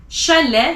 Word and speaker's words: chalet: Chalet, you don't pronounce the T at the end.